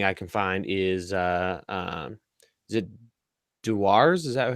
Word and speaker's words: Dewar's: The cheapest, best nightly thing I can find is it Dewar's? Is that how you would pronounce it? Dewar's.